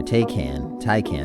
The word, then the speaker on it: Taycan: I mean, they're doing well with the Taycan, or Taycan is how you pronounce it.